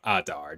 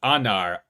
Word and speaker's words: Adar: like stabs him yeah I got his name wrong earlier I use the like farsy word for Pomegranate instead of his name Adar not Anar Adar oh yeah yeah we